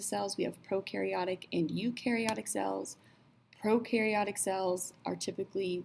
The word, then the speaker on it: eukaryotic: Eukaryotes rhymes with do, U rhymes with do.